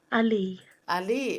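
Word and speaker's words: Alii: Pala how do you say hello in Pala Ali Ali oh that's so simple and easy yeah did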